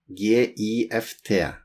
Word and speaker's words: gift: Notice, we write gift with G-I, G-I-F-T, but we pronounce it G-I-F-T, gift.